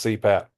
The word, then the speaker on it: CPAP: abbreviations and acronym so abbreviations are made up of initials that can pronounce as a word so for example CPAP pronounce CPAP stands for continuous positive